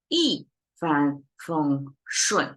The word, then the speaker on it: 一帆风顺: 一帆风顺. So you have two dropping sound and two flat one in the middle, right?